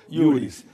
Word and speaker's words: iuris: Então, igreja sui iuris, escreve sui juris, escreve, mas sim, se pronuncia iuris, de direito próprio.